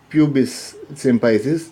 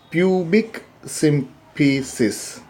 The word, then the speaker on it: pubic symphysis: as, now here also we are not pronouncing this as pubis symphysis, actually it is pubic symphysis.